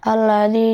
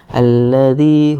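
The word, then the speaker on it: الذي: Nah, yakni pengucapan dza. Dza dan za. Nah, itu harus hati-hati ya. Za alladzi bukan alladzi ya. Nah, itu harus harus diperhatikan lagi ya. Alladzi hum fihi mukhtalifun.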